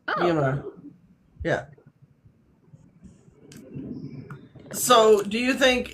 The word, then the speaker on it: Myanmar: I mean, okay, the way it's spelled, if you phonetically sound it out, it would sound like Myanmar, Hmm. but then it's like if you hear people like from there speaking the name, it's like it's Myanmar.